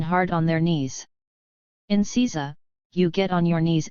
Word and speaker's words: seiza: Seiza position, kneeling. Seiza, pronounced seiza, is a kneeling position that takes